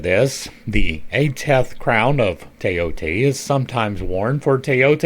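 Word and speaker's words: Thoth: Some people may be a little bit thrown off by my pronunciation of teote, but if you go to Egypt today, this is how this word would be pronounced. The th is t to them. It is in here twice. The o is long. It is te o t. Uh there are people that call it thath, but that is an anglicization.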